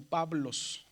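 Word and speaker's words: Παύλος: Dice Paulos. Paulos, pero por la unión entre la alfa y la yil ahí se pronuncia como Pablos, ¿verdad?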